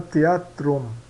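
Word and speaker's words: theatrum: TH se pronuncia como T, tá? E CH então mudo, né? Teatro, né? Suena teatrum, teatrum, né?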